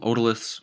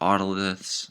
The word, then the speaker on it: otoliths: Here we're going to have these little calcium carbonate stones called otoliths or otoliths, depending on how you want to pronounce it.